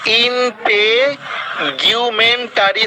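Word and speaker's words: integumentary: উচ্চারণটা নতুনদের উদ্দেশ্যে আবার আমি রিপিট করতেছি, এই যে এখানে ইন্টিগুমেন্টারি।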